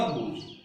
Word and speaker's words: whose: W का उच्चारण होगा। किसका नहीं होगा? H का नहीं होगा। तो देखिएगा, हु, whom और whose।